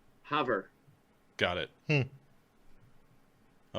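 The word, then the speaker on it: Havre: look it up okay not rhyming with brett farve or have rey the correct pronunciation of the highline town's name is hover got it i like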